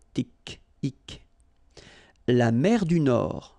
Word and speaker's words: Nord: La mer du Nord. Final D not pronounced.